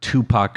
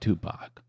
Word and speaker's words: Tupac: But today we're talking about the murder of Tupac Shakur. Big one. I hope I'm saying that right, Greg. I I think you are. Did you pronounce it as the number two?